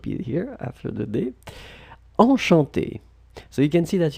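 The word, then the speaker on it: enchantée: Enchanté. So you can see that you've got the two options. You've got the masculine form and then the feminine form. Basically, you will pronounce them exactly the same way.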